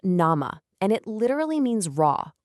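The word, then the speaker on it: 生: It's pronounced nama, and it literally means raw or living.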